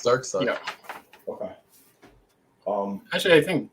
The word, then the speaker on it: Darkseid: Like, is it Side or Seed? Dark Side. It's Dark Side.